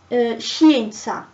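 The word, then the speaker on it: scienza: i so for example in shinsa science is spelt c s i e n z a so it's she because there is the i after it um now the heart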